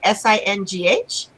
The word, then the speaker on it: Singh: And her name is spelled Vartika, and we pronounce it Vartika, yes? Yes. And then her middle name Singh, Singh, and then her last name Sikarwar, Sikarwar.